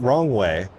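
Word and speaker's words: Roewe: But also this company that I was saying, rowway, it's actually pronounced wrongway.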